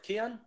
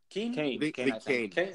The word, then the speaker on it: Kean: How do you pronounce his name? Right, Kean? Kane. Kane. Oh, like Kane, Harry Kane.